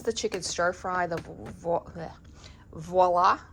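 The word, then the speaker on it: Voilà: The voila. Voila. Voila. That's how you pronounce it.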